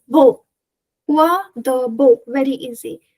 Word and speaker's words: beau: So this beau, you can easily remember using this pronunciation, B-O, which is beau.